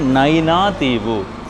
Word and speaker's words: நயினாதீவு: நிறைய இசைக்கருவிகள் அப்படியே வாங்கோ நைனா தீவு சரியான உச்சரிப்பு நைனா தீவு அடுத்தது இதை பாருங்கோ இந்த